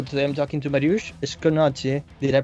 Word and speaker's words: Skonieczny: Today I'm talking to Mariusz Skonieczny. Did I pronounce that correctly? Yeah, close. How would you pronounce it? Skonieczny.